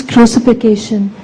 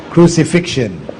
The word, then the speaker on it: crucifixion: is only about his crucification crucifixion this is the common mispronunciation amongst us crucification he's not crucification but crucifixion well the issue of